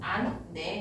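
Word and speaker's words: 않네: 예를 들어서 요 안내에다가 니은, 히읗 뒤에 니은 결합되어 있지. 이런 경우에는 안, 네 이렇게 발음을 하겠다는 거거든. 그럼 여기 있던 히읗이 사라졌죠.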